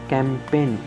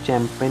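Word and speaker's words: campaign: Next word है हमारे पास कैंपेन, इसको चैंपेन नहीं बोलेंगे, इसको बोलेंगे कैंपेन। कोई मुहिम होती है जो, उसको हम कैंपेन बोलते हैं, कैंपेन।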